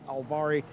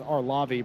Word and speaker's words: Arlavi: Lindrup, Alvari, uh, Edvardson, Daly, and Gomez, your top 10. And that's Arlavi, by the way. I did pronounce that incorrectly.